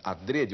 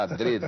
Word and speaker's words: adrede: gente fala Adre mas o Aurélio recomenda ADR o que não quer dizer grande coisa né a pronúncia é uma coisa mais ou menos livre e neste poema aqui